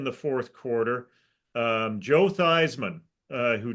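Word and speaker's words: Theismann: fourth quarter um Joe thyman uh who changed the pronunciation of his last name to rhyme with Heisman it it technically his his real pronunciation of his name was thean when we went to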